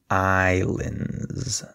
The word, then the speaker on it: islands: of this word notice that the S is silent so we say Islands there's no s sound okay so I'm going